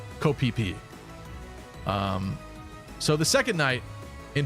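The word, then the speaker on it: Ko Phi Phi: There's an island called Phi Phi. It's spelled like this, but it's pronounced Koh Phi Phi.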